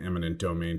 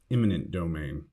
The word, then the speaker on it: eminent domain: If you're thinking about adding eminent domain to your vocabulary, make sure to avoid the common mistake of pronouncing or writing it as imminent domain.